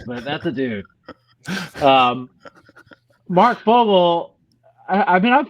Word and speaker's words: Fogel: Fogel back.